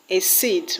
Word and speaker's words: exceed: The word exCEED will have its stress on seed.